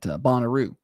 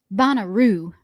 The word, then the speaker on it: Bonnaroo: Why you got to say it like that? Why? What do you What? Bonaroo. What's wrong with saying it like that? You know that's not where the infasis goes.